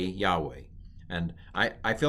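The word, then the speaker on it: יהוה: This is the name of God, which is pronounced Yahweh or Yahweh in the older pronunciation.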